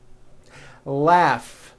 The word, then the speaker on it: laugh: Find, finally, family, freedom with a strong R, freedom, laugh. Notice the GH combination in that word, laugh.